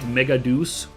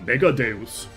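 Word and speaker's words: Megadeus: Um, for some reason they insist on pronouncing it Megadus on the English dub and that just bothers me. I don't cuz it sounds really stupid. First of all, it it is very obviously supposed to be Latin so it's deus.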